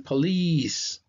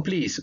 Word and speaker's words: police: Vemos que el estrés de sonido va a estar en la segunda sílaba. Como es una I larga, va a sonar police, police, police. No please, pero police, ¿okay?